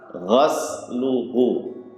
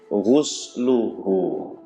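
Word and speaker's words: غسله: Ghusluhu. Yang benar apa? Ghusluhu. Huruf ghainnya itu di dhammah. Hurufnya di dhammah. Hu. Sinnya di sukun. Ghus. Lamnya di dhammah. Ghusluhu.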